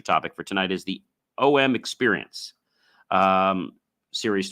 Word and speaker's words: Om: And the first thing I want to talk about is demystifying OM.